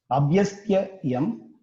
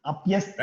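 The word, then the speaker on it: अप्यस्त्ययम्: You're reading pakara as bakara. Still that pronunciation to be corrected. It is up. It is not ab. Okay, up. Okay. Apyastyayam. Where is ab? Bakara is there? It is pakara. So pakara should be pronounced properly.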